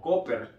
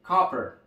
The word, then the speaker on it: copper: pueda leer con facilidad manera españolizada como coper realmente la pronunciación correcta es copper copper donde esta a es una a donde tenemos que que abrir bastante la boca para poderla pronunciar copper copper copper cobre